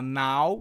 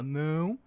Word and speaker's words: não: O tio marca a nasalidade de uma sílaba. Então, não, né? Som nasal. Você não fala nau, você fala não.